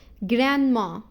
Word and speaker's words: grandma: ما ننطقش حرف الـ D خالص. Grandma or grandpa.